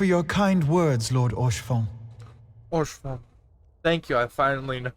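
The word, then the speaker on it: Haurchefant: Orchefon. Thank you, I finally know how to pronounce that.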